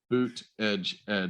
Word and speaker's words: Buttigieg: Daniel, I literally have a shirt that says boot edge edge.